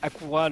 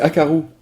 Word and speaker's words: Akaru: Mais non, c'est Akaru. Oui, c'est Akaru, voilà. Ou Akaru? Akaru? Non, ça Peut-être. se prononce Akaru, je pense que ça va être à la japonaise.